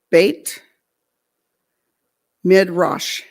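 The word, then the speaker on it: Beit Midrash: those kind of folks it's called bait mid rush and it's that's the way it's pronounced but it's spelled b-e-t new word m-i-d-r-a-s-h now at this time and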